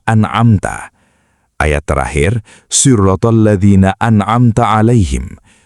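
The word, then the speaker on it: أَنْعَمْتَ: Ayat terakhir, siratal ladzina an'amta alaihim. Huruf ta di akhir kata an'amta berharokat fathah, berbunyi a, yang merujuk kepada Allah subhanahu wa ta'ala sebagai pemberi nikmat. Namun jika dibaca an'amtu, berbunyi u, artinya berubah menjadi jalan orang-orang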